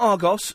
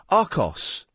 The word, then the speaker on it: Arcos: Have you heard of a thing called Arcos? Not Argos, steady, Arcos.